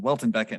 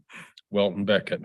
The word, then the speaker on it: Welton Becket: the same uh mispronunciation Walton Beckett not William Beckett but I keep making the same mistake yes Welton Beckett who was also the